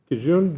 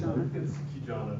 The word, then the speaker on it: Kijana: The first one is Kijun. Did I pronounce that correctly? It's Kijana.